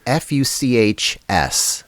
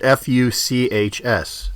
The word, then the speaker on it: Fuchs: No, it's f u c h s. I think it's pronounced Fuchs wheels.